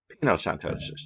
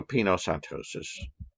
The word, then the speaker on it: pinocytosis: the extracellular fluid so the way i remember it peanut like pina colada you're taking a drink i know it's spelled differently but it reminds me of this right um it's kind of stupid but it works for me um so pinocytosis that's